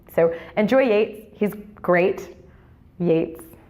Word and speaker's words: Yeats: enjoy wait he's great Yeats was great enjoy it's late not eat cool hey rhymes with gates I love me some